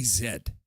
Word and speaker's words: Z: And should it really be the Gen Zed stair in Canada? Because we say zed. Americans say Z.